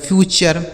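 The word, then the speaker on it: future: एफ यू टी यू आर ई एफ यू से दोस्तों हो गया आपका फ्यू टी यू आर ई से चर हो गया लिखा गया फ्यूचर ठीक है सी यू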